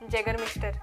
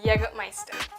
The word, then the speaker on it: Jägermeister: It's too strong, Jagger Mister. क्या? कौन सा Mister? You mean Jägermeister.